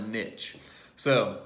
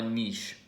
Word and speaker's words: niche: But for day 6, we are talking about focusing on a niche. Or a niche, however you like to pronounce it.